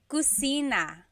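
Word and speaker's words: kusina: is cusina cusina so in the Galo there is no letter C so in Spanish if it's spelled with a c usually in Tagalog it's spelled with a K because there's no letter C naturally found in the Tagalog alphabet that so the Cina is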